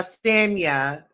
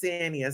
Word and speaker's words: Sanya: all these partnerships yeah stania ah yes racing's her name is sanya so i was saying it wrong so the olympic gold medalist her name is sanya so drew tried to